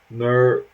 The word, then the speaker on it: Merimbula: And Merimbula is far south coast, pronounced Merimbula.